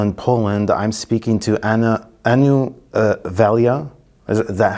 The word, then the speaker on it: Anu Valia: I'm speaking to Anu Valia. Is that how you pronounce it? Anu Valia.